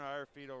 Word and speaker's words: Iorfido: The Bruno Iafrito. Am I pronouncing Bruno's last name correct? Yes, Bruno Iafrito Wrestling Camp.